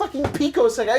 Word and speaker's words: pico: cultist Oddish Caitlyn Rose the prefix Pico is pronounced Pico not Pico and for context most